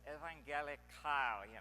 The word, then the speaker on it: evangelikal: But here I'm going to say this is more like evangelikal, or as I observe German people pronouncing this, typically with a grimace, evangelikal, so it means the